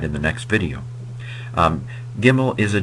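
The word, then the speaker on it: gimel: the next video um gimmel is a g is a hard G sound that is it's pronounced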